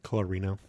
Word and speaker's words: Colorino: barber today's guest is uh i'm sorry colorino thank you i i'm having a brain part